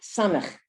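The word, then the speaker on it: סמך: Samach. So the samach has the same sound as the sin.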